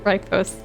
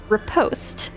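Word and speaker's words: riposte: them this institute with right post yeah I I don't know if you're aware of this evil but it's actually pronounced repost oh the ancestor okay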